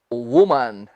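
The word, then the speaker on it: women: पहले में हमने कहा था वू, लेकिन यहां भी स्पेलिंग वही है WO, लेकिन यहां पर हम इसे कहेंगे वी। इसी प्रकार कहेंगे वी। और यहां MEN को हम मैन नहीं कहेंगे, मिन। ध्यान से सुन लीजिए, वी मिन।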